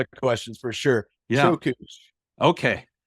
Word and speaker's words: Çöküş: Çöküş. Okay. And think like choke. Yeah. And remember those things from the 90s, koosh balls?